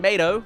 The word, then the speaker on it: Mato: Mater and Mato, like tomato, I disagree with that pronunciation, go on to a